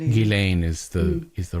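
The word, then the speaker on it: Ghislaine: Gileain is the is the right way to pronounce it.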